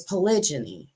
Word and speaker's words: polygyny: himself a um and and it keeps saying it wrong because it's polygyny and that's what he